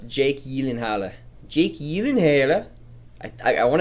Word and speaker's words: Gyllenhaal: help you with that it is actually yielding halo yelling hello there it is because it's swedish yes again it's just a different pronunciation a different accent so it's jake yi linharle jake yilingella i i